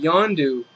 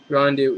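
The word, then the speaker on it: Yondu: there and he's going to play be playing yandu I think I I think that's a proper pronunciation yandu in the Guardians of the Galaxy which I'm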